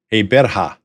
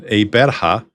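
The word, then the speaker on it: Gqeberha: newer South African name, Eberha. Now, listen to that pronunciation. It starts off with a click, and then Eberha is the new pronunciation,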